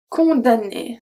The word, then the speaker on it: condamné: And another one that's not that common is condamné. Condamné. Né. We don't pronounce the M. We don't say condamné. Condamné. Now that would be hard to pronounce. We say condamné. That's it.